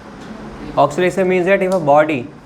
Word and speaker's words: oscillation: The pronunciation is just said as oscillation, मतलब written as oscillation and pronounced as what? Oscillation. Oscillation means that S is silent.